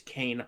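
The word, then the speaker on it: Kain: Oh, like Kane enable but with a K.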